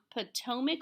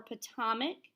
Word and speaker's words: Potomac: So principles, the P stands for the Potomac or Potomac. You will hear it pronounced both ways.